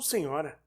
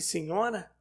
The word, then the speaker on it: senhora: "Por que me chama de senhora?", perguntou ela, fazendo soar o ó com a voz cheia, defeito de pronúncia, mas as outras de senhora tenho notado ainda esta noite. Essa é, creio eu, a verdadeira pronúncia da palavra. Mas nós, os brasileiros, para distinguir da fórmula cortêzinho, usamos da variante que soa mais forte e com certa vibração metálica.